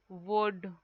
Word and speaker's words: would: So you can write should, would, could. Here all L is silent in these words.